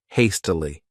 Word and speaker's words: hastily: This word has 3 syllables, and the stress is on that first syllable, hastily.